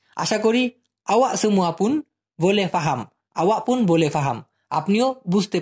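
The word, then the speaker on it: faham: ঠিক আছে, এবার এফ দিয়ে প্রথমে আমি বলতে চাচ্ছি ফাহাম। এটা কিন্তু পাহাম না, পাহাম কিন্তু হবে না, পা হাম।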